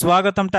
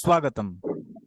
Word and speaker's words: স্বাগতম: কহ সগতম আচ্ছা সগতমটা একবার বলুন আরেকবার স্বাগতম সগতম না এভাবে বলবেন সুগতম স্বাগতম সুগতম হ্যা